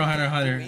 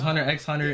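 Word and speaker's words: Hunter × Hunter: Hunter Hunter is actually I remember when they were advertising for Hunter Hunter. Like I used to think it was Hunter X Hunter and then they put in like the subnote don't pronounce the X.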